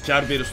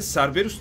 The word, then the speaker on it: Cerberus: Aa, Cerberus nasıl okuyorsanız. Yani ilginç bir şekilde İngilizce'de Cerberus diye okunuyor ama biz hep Cerberus diyoruz.